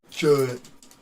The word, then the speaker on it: Judd: Is Judd or Judge? Judd. Like a milk jud.